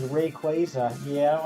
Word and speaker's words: Rayquaza: like uh that one I have always said as written uh Rayquaza but no the official is Rayquaza yeah I don't like